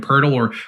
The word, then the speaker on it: Poeltl: There's another center on the slate who we could talk about as well, and Jakob Poeltl or Jacob Puddle if you want to go with some people's unclassy pronunciations out there.